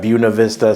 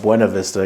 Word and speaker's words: Buena Vista: video in the past, I made the mistake of not properly pronouncing it according to us locals here as Buena Vista, so I got a bunch of hate comments. So I know it's Buena Vista if you're here, but you know, people that don't know that are going to call it Buena Vista because, you know, that's how it's spelled.